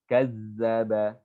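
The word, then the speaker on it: كذّب: Perhatikan huruf zal. Zal, lihat makhrajnya ujung lidah. Ujung lidah di antara 2 gigi dan mendengung seperti lebah. Za, zi. Kazzaba.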